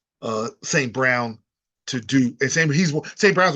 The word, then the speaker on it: St. Brown: You have to honor the run, and that gives you passing lanes, and that allows St. John. I mean, oh gosh, I keep getting his name wrong. St. Brown to do, and St.